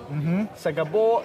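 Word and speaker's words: σ' αγαπώ: 但希臘人在這裡待幾小時咖啡小休的時候沒事做, 一定會追求女孩肯定我來到希臘學會了一句話是用來結識女孩的, 是什麼… Se agapo Se agapo, 發音像"新加坡" 好像是我愛你的意思, 對吧？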